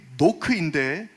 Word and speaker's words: knock: 혹시 여러분 가운데 분명히 knock인데 왜 ASN이 아니며 ASK라고 생각하시는 분 없으시죠? K 묵음입니다.